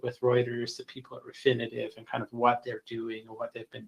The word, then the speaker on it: Refinitiv: we have uh that we get from reuters refinitive is the proper way to say that now